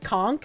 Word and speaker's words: conch: Apparently, conch is pronounced conchk.